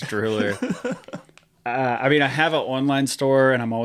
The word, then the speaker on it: DrewLR: Pronounced DrewLR.